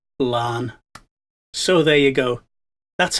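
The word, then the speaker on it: Laugharne: You see, the town's real name is Tal Lacharn, and the administrators changed Lacharn into English spelling, and the GH became silent, so Lacharn became Larne.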